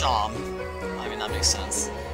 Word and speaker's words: Seam: My name's Seam. It's pronounced Shom.